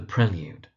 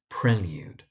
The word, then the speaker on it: The Prelude: But the most frequent mispronunciation is actually the poem The Prelude. So it's prelude. The mispronunciation you find is prelude, prelude. But the poem is called The Prelude.